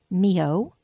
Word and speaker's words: Myoho: you spell it and I think it's the real spelling actually it's not phonetic and as in Nancy